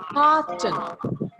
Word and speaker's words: carton: So you have to stretch the A little bit more and Cotton.